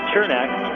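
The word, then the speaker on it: Černák: was telling me that yes it is chernack but that the Americans don't have the CH sound in well there is a CH sound in the English language you just add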